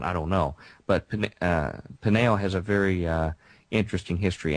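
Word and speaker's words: Peniel: Jacob names that place Pinael, P-E-N-I-E-L, slightly different spelling, Pinael, almost identical pronunciation.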